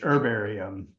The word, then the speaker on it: herbarium: pronounce that her herbarium I say with a silent h herbarium herum okay all right